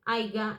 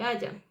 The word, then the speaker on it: haya: de pronunciación o escritura, como cuando se dice haiga en lugar de haya.